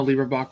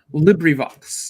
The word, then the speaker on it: LibriVox: leave a rocks uh libra box recordings it's a librivox is probably the correct way of pronouncing i put a link